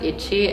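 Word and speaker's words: いち: are very similar like in Japanese it's pronounced one is pronounced Ichi and then in Korean it's pronounced ill and then in Chinese it's pronounced E depending on who you speak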